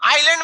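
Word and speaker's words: island: आइलैंड में क्या silent रहता है?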